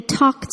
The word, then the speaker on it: talked: Verbs ending in voiceless sounds, p, k, th, f, s, sh, ch, cause the ed ending to be pronounced as the voiceless t, with no vocal cord vibration.